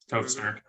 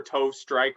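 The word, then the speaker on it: Tove Styrke: I called her Tove Strike for like the first month I was listening, because I just was not looking close enough. Stirk is spelled, for anybody wondering. And actually, I'll spell both names just in case. Tove Stirk is Tove space Styrke. So that's Stirk.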